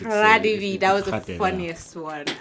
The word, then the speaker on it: Radebe: It's Radebe because there is no H there.